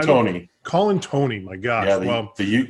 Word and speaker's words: Colantuoni: i've never called tony colin tony my god yeah well the the u is silent we've only talked a hundred times so colin tony and they are the